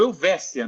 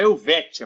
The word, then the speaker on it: Helvétia: Quem trabalhou com Salomão sabe muito bem que a rua Helvécia é rua Helvécia, não é Helvétia, por mais que se escreva dessa maneira.